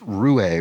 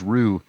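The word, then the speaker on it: roué: be a return of Ru a which I mispronounced as Rue um last time it came up in the crossword because I didn't remember that it had a uh the what is it accentegu I suppose on the E it's a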